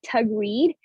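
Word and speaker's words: Taghreed: name is so um my name is tagrit and it's pronounced as like tug read and um so yeah okay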